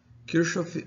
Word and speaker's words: Kirchhoff: Kirschof é a pronúncia em português de um nome que é prano.